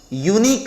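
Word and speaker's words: unique: शुरू तो हुआ है, वोवेल तो है यू, लेकिन उच्चारण करने गए तो यूनिक बोल दिए हम। यूनिक में लालू यादव का य आ गया, और य की वजह से ये कॉन्सोनेंट साउंड हो गया।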